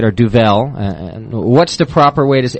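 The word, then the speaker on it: Duvel: a golden nail and that's the DU that's how I pronounce it we've heard it differently though too from really good Belgian Belgian beer brewers even yeah we often hear a duil is one way that people say it or duel what's the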